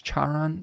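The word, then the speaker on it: Charon: in the like uh I believe it's pronounced chyon or I don't it's not Chiron it's Chon the the the guide of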